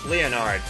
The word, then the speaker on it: Leonard: Dale Roswell pits with Leonard, and we have gotten some people saying that that's not the correct pronunciation of his name, Marcus Leonard. It should be Marcus Leonard, according to some people, but no, that is actually correct.